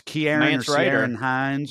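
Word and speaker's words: Ciarán Hinds: see who played Caesar yeah it's uh it's Kiara and Heinz right yeah yeah man trailer I think that's key I don't know I'm probably pronounced his name wrong but c-i-a-r-a-n-hines yeah he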